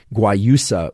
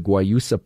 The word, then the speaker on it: guayusa: who don't like mate might prefer something like guayusa which is spelled g-u-a-y-u-s-a g-u-a-y-u-s-a guayusa which is from ecuador